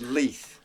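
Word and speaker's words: Laois: It's pronounced Leith. Leith, but it's actually spelled Laios.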